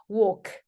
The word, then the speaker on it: walk: 자, 요거는 이제 S 발음 아까 했죠? C, series, series. 아까 말씀했죠? C 앞으로 빼내세요. 자, 그리고 walk, walk.